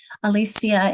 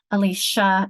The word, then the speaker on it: Alicia: Even, for example, my own name, Alicia in Latin, Alicia in more Americanized or anglicized versions. It depends on how we pronounce things.